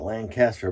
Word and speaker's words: Lancaster: hit up the old Lane Caster kissed her however you pronounce them well people have been giving me crap about my pronunciation of Lancaster PA but I call like the Lancaster bomber in England so I do apologize